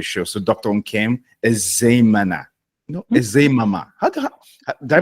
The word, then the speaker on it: Ezeamama: Nkem Ezeamama, Ezeamama, did I pronounce it It's well? it's Ezeamama.